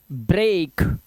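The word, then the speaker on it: break: का काटा निकल जाएगा निम्न शब्दों में ई ए का उच्चारण दीर्घ ए होता है जैसे ब्रेक दीर्घ ए मतलब क्या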